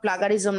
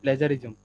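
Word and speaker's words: plagiarism: হয় এটা যাতে কোনো প্লাগারিজম না থাকে এখন বলতে পারবেন আপু আমরা প্লাগারিজম জি আপু এটা প্লাগারিজম না এটা প্লেজারিজম আমি সকালের ভিডিওটাও দেখছিলাম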